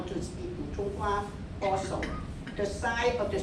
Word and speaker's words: Putonghua: Yes, Putonghua.